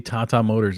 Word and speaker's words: Tata Motors: might be tata motors okay it is actually tata motors it's an indian company okay gotcha gotcha all